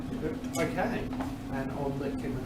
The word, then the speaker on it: Earp: Is that how you say it? Yeah, that's correct. Earp.